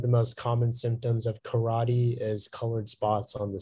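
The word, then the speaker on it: carate: spanish am i saying the word correctly yeah karate um 30 seconds remaining karate can you repeat the pronunciation it's just karate karate c-a-r-a-t-e karate that is correct thank you our next speller is speller 38.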